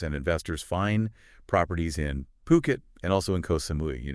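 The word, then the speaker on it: Phuket: you probably heard of PUK it and that's poo as in pool kit as in Kettle poit not fukat you know it's one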